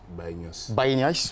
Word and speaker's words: Baye Niasse: Baye Niasse, voilà, Baye Niasse, merci beaucoup pour la prononciation, Baye Niasse de la confrérie des Niassènes.